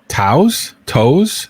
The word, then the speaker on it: Tso: A General Tso's chicken. General Tso's chicken, I General believe. Tso's chicken. I always say it wrong. Yeah. It's that damn T that's in front.